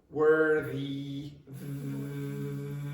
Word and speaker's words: worthy: Now this is pronounced, so you notice this is, there's no vibration. But with this one, there's vibration. Worthy, the. It's like the, okay?